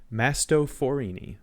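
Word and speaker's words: Mastophorini: tribe is Mast forini masto forini like a like a Mastadon it's like an elephant the genus is or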